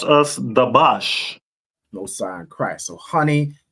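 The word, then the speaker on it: דבש: Honey is pronounced as dabash. No sign Christ. So honey is dabash.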